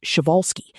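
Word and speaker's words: Przewalski: Instead, bow tie horses grouped closely with the Persolski's horse, pronounced shioalsski, a species discovered roaming the Mongolian step in the late 1870s and long considered the only truly wild horse.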